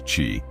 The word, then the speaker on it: Qi: First, let's turn to the East, where this energy has been known for thousands of years as Qi, pronounced Qi.